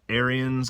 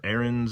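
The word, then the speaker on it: Ariens: zero turns out there there's a lot of aryans or errands as people pronounce them different parts of the country gravely kubota dixie chopper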